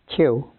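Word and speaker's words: Kyu: Could you say that for us, pronounce it? Q.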